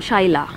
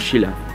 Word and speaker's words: Shyla: I'm Shaila. Shaila. I'm Shaila. So you're not Sheila? I'm Sheila. Oh, that's how I pronounce it.